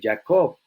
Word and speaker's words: Jacob: dirá más tu nombre jacob o jacob como lo que has pronunciado el ticket lion no suena como jota sino como y para nosotros ya no será ya co sino israel está otra